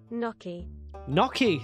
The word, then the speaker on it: gnocchi: yaoki Yoki and Yoki hold on how to pronounce gnocchi Noki see that's what I said knocky knocky knocky